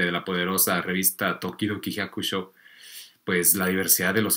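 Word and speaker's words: 百姓: Digamos que esto que ustedes ven como Hyakusho, pues también puede ser como Hyakusei, pero bueno. Ese carácter del Hyakusho o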